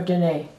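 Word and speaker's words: Diné: That's Dene or Dene? Navajo. Yeah, Dene. Yeah. Dene. And Cheyenne. I don't know how to pronounce it in your language.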